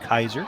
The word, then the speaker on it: Keiser: the uh viewers that suggests that uh it is pronounced Kaiser so we were debating that before we went on the air we've heard it done both ways so now Midway